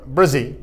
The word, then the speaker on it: Bresee: Am I saying that right? Bresee? Bresee, that's correct.